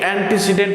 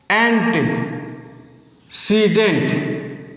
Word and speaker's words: antecedent: আগে এর উচ্চারণটা ভালো করে জানতে হবে। অন্টি সিডেন্ট অন্টিসিডেন্ট না এটা বাংলা উচ্চারণ হয়ে গেল এর ইংরেজি উচ্চারণে ই এর শর্ট উচ্চারণ থাকে এন্টেসিডেন্ট এবার দেখো আমি ক্লজ